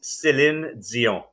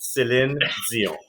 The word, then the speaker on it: Céline Dion: But I can really say well, and I'll say it once and only once, is Céline Dion. Because I know y'all Americans don't say it properly, and that's how you say it. Céline Dion.